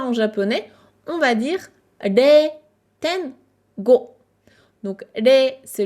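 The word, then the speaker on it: れい: Rei, ten, go. Donc ça, c'est les situations dans lesquelles tu vas croiser la prononciation rei.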